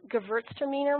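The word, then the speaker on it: Gewürztraminer: those varietals that are white wines and it's pronounced Gewurztraminer look so that's how you pronounce my favorite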